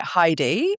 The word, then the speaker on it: Heidi: I pronounce it Heidi, but I quite like the way that you say it to be honest.